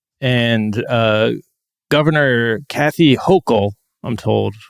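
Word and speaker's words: Hochul: And uh Governor Kathy Hokll, I'm told, pronounced like Yok.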